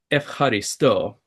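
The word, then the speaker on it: ευχαριστώ: It's efcharisto. And Mhm. efcharisto, when you read it, it looks like it's spelled with an EU. And so I thought, oh, it's like EUX would look like to us, Efcharisto.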